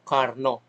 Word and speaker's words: Carnot: So may sarili silang bigkas, no, so for the ano lang part of education, ibigkas natin ang tama according to their language, no. Carnot, Sadi Carnot.